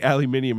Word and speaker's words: aluminium: It's just the Brits say aluminium and you guys say aluminum.